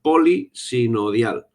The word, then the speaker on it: polisinodial: A mucha gente le resulta complicada la pronunciación por polisinodial, pero es muy sencillo, es una palabra compuesta, polisinodial. compuesta por varios sínodos.